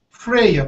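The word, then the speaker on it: Freja: First, my new hybrid girl in incubation, I want to name her Freya, pronounced like F-R, okay, it's spelled F-R-E-J-A, pronunciation Freya or Freya.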